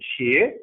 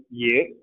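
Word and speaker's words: 也: Instead of xie, it is pronounced ye.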